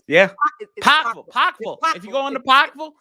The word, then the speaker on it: Pikeville: If you go into Pikeville, Kentucky. You said it wrong. It's Pikeville.